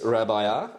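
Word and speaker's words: Rabajà: Pronounce that J. Don't forget, in the Italian language, J is not a letter like Jeffrey, my name, or Juventus, the famous soccer team from Turin.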